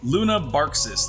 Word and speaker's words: Lunabarxis: Lunar Baraxis, or Lunabarxis? Lunabarxis, that's the correct pronunciation, has leveled up.